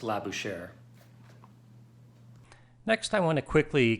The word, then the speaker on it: Labouchere: agreement that it's pronounced la bouche air and forgive my bad French pronunciation but I think that's pretty close hitting that R sound at the end and let me show